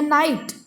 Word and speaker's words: night: Then here night, here G is silent.